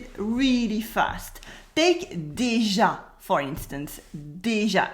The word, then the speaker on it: déjà: Oh, and déjà is pronounced déjà. Very simple, déjà. The accent on the A does not affect its pronunciation.